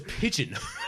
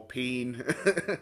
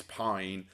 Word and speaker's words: Pijn: The other thing is there's a Dutch pronunciation which is Pijn. I thought maybe it's Pijn. I don't know, but now it's Pijn. Yeah, so the Dutch pronunciation is Pijn, but it means pain.